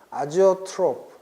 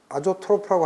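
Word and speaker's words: azeotrope: 아지오트로프. 선생님이 원어 발음을 내가 네이버 사전에서 봤더니 제이온가? 어렵더라. 선생님 그냥 아조트로프라고 할게요.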